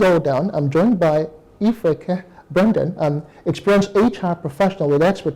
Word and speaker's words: Ifreke: Did I pronounce that right? Yes, you did, Ifreke.